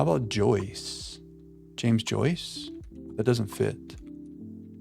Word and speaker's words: Joyce: How about Joyce? James Joyce. That doesn't fit. I feel like that's such a smart thing that we just did right there, but it's not right. James Joyce does rhyme with voice.